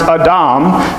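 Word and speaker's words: אדם: about Adam and Eve Adam is a in Hebrew he pronounced a domme and Adam is made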